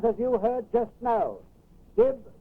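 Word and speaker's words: DYB: It is, as you heard just now, dib, dib, dib. It is spelled D-Y-B.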